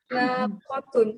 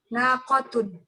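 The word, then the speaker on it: نَاقَةٌ: Ini bacanya apa, Om? Kitun atau nakutun? Nakutun. Apa onta betina Ustaz? Yang betul nakotun. Nakotun. Iya, unta betina ya Kak Ustaz? Iya, nonton. Tapi bacanya gimana, Om? Nakitun atau nakutun? Nakotun. Nakotun gitu ya? Nakotun. Coba sekali lagi, Om. Hada jamalun. Wa tilka naqatun. Ahsant. Naqatun. Naqatun namanya panjang.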